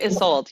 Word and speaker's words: Isolde: Oh, Isolde.